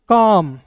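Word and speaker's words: calm: के का क talk T ए एल एम कॉम। ठीक है? काल में नहीं पढ़ेंगे। काम वॉक डब्ल्यू ए एल के वॉक।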